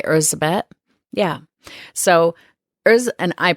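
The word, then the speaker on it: Erzsébet: it just pronunciation yeah Elizabeth is the more westernized version but she probably you know went by ursabet yeah so there's and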